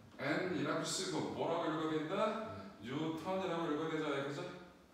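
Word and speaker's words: newton: 뉴턴의 이름을 따와서 뉴턴이라고 읽는 거예요. 여러분들 물리하는 사람들을 제일 맛보내기 쉬운 방법 중에 하나가 이거를 백엔이라고 읽어주시면 납빛이 변하는 걸 볼 수 있을 거예요.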